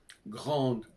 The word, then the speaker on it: grand: Par exemple, grande, grand au masculin, on n'entend pas le D, on l'entend au féminin.